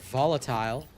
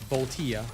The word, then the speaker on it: Voltia: How do you get volatile? What's volatile? crumbling. Talking about the weapon Voltia because that's a that's not how you say it. It's Volia, not Volatile.